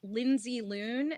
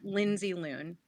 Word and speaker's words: Lindsey Loon: TR SL lindsy loon and it's Lindsay like Lohan but not and spelled with an ey as Lindsay should be spelled l n DS e y loon like Looney Tunes so it's just link